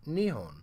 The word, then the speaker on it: Nihon: Now, the first kanji here is pronounced nichi, and the second kanji is pronounced hon. Together they create the word Nihon, which is the Japanese name of their country, Japan.